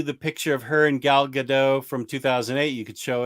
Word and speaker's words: Gal Gadot: was right we say gal gadot the t is not silent and should definitely be pronounced well that was about